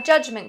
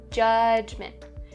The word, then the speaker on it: judgment: There's two /dʒ/ sounds, but in North America what we do is we slightly change that /dʒ/ sound to a /tʃ/ sound. It's something in between those two "judgement".